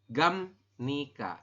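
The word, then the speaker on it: 갑니까: Jadi gam nika. Dibacanya gam ya, bukan gap ya.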